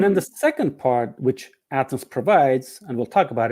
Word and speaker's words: Athenz: became a n and z and if you pronounce it becomes Athens that's where the name comes from no no